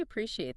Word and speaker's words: appreciate: It looks long. Appreciate. Sounds like a pre-she, 4 syllables.